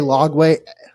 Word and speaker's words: Lagway: How do you pronounce his name? DJ Lagway, LAG.